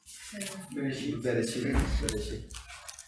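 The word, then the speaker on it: בראשית: Bereshit.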